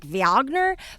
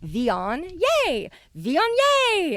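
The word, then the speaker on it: Viognier: know it looks like vagner but it's pronounced vion think of the word neon but with a v like von yay von yay and oh okay and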